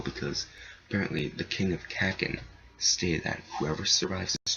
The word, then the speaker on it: Kakin: And I want to state one thing, like, many people have like different pronunciations of Kakin. It's weird, like someone called it like Kaiken. Like people are calling it Kaiken. Someone called it Kakuin. Like, dude, guys, it's Kakin.